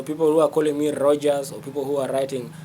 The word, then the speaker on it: Roger: If somebody says Rogers, that is not my name. My name is Roger. It's R O G E R. The pronunciation in the dictionary sometimes. Uh yeah, it is Roger. Roger. I see there's a there's a British pronunciation, English, and then there is American pronunciation. So even the French will say Roger Roger. And so um it is good to respect the truth. There's no s in my name.